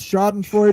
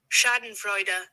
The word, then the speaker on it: Schadenfreude: Devil Frog again says, Schadenfreude, a great word.